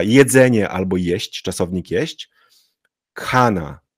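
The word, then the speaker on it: खाना: albo jeść czasownik jeść Kana to nie jest Kana tylko kana kana długie a czyli k ch to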